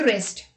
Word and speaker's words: wrist: W is not pronounced at the beginning of a word when it is before the letter R. Let's look at the examples. Rap, right, wrong, ring, wreck, wrestle and wrist.